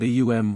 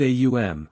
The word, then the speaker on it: AUM: according to the rules the Hindu word eum represented the three powers combined in their deity Brahma Vishnu and Shiva or the creating preserving and destroying Powers a the first U or oo the second and M the thir this word could not